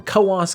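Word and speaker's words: Coös: Hailing from Kas County, New Hampshire. And that is how it's pronounced cuz I was going to pronounce it Kuz County.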